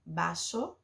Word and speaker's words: vaso: com a letra V porque em espanhol ver tem som de bebê Então se escreve vaso mas se fala baixo ou também pode ser